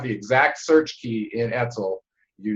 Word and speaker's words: ETCSL: I try to pronounce it as an acronym. Etzel. Etzel. Etzel.